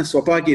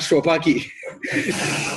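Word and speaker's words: स्वपाकी: It's not swa. That's why you should say I am a swapaki, not shwapaki. Swapaki means I cook myself and eat. So you have to be very careful about this pronunciation in Sanskrit.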